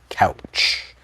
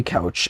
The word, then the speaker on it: Couch: to confused strangers that his last name is pronounced like a sofa.